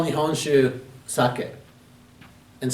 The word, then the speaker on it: sake: usually call me honshu sake and sometimes the pronunciation is a little different they will say saki japanese sake but maybe